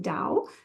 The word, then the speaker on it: Tao: It focuses on the Tao, the way, and how individuals can live in harmony with it. It's composed of 2 parts. Tao, pronounced Dao, means a road and is often translated as the way.